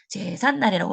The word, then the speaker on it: 제삿날: 시작되는 이 경우에 갑자기 제삿날이라고 발음이 되는 경우가 있어요. 이 경우도 우리는 두 단어 사이에 사이시옷을 넣어서 니은 소리가 덧나는 것을 해결할 수가 있습니다. 그래서 얘의 발음은 최종적인 발음은 제산 날이 될 겁니다.